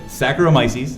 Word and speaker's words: Saccharomyces: Well, now you're just dropping All syllables. right. Viscerae. What's it? Saccharomyces.